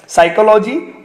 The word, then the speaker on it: psychology: अंग्रेजी में दो वर्ड है, साइकोलॉजी और स्यूडो, PSYCHOLOGY और PSEUDO। ऐसे शब्दों में प खामोश है।